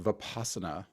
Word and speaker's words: vipassana: that Buddhist practice uh I've usually heard it pronounced vipassana ooh okay well I've never heard of it